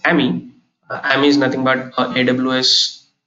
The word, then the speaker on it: AMI: Then you have something called as AMI. I pronounce it as AMI.